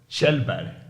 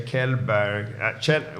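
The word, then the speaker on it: Källberg: pronounced okay you say kellberg we say in Sweden Anon Shel yeah because the K with the a is like shell like shping correct yeah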